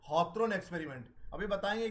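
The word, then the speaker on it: Hawthorne: हॉथरन की स्पेलिंग ये है, ये हिंदी और इंग्लिश में ये हॉथरन ही पढ़ेंगे इसको, HOWTHRONE। इट is also called behavioural approach.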